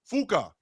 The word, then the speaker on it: Fucka: His last name was spelled Fucka. It was pronounced Fuka.